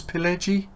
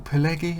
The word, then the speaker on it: Pileggi: Now, it's by, I'm not sure if you pronounce that with a soft G, was it Nicholas Pileggi? Or Pileggi? I'm guessing it's Pileggi, but again, he's an author I'm not aware of.